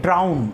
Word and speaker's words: drown: उसके लिए क्या वर्ड यूज करते हैं, ड्राउन। उसके लिए क्या वर्ड यूज करते हैं, ड्राउन। प्रोनाउंसिएशन भी ध्यान रखना, ड्राउन, ध्यान रखना प्रोनाउंसिएशन, ड्राउन, डूबना।